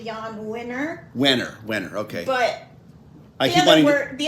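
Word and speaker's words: Jann Wenner: included publisher uh and I never know if I say it right John John Wier winner um of Rolling Stone magazine it's actually Yan wner wner wner okay but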